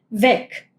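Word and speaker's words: Weg: Acá esto suena como una k, ¿no? Beck. Beck es camino. Eh y acá, entonces, esto suena mucho más si uno escucha beck piensa en una k, pero se escribe con g. La g al final puede tener ese sonido bien seco, que en vez de ser gue, no, no es beg, no es beg, es beg.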